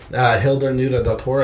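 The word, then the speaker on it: Hildur Guðnadóttir: Oscars that's f um you can attempt the the name Hilder nuda dor I think is how you say that yeah yeah um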